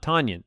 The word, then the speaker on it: Tonyan: uh this is uh how you pronounce his last name it's tonya not tonyan it's tonya like paul bunyan yes our really only